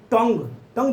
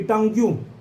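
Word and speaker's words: tongue: टंग्यू ना, टंग बोलते हैं लेकिन उसको क्या बोल देते हैं? टंग्यू। नहीं याद होगा, टंग कहेंगे तो TUNG लिख के खत्म हो जाएगा।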